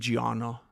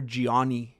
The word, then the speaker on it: Gianna: very good friend named Gianna. And you know what, Gianna? I feel bad because for like three of the years that I knew her, I mispronounced her name. I used to call her Giani.